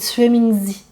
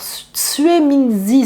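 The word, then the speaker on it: juemingzi: Et en chinois, les graines de cassia, c'est Tsue Mingzi. Alors Tsue Mingzi, ça s'écrit J-U-E. Ça se dit Tsue, ça s'écrit Jue.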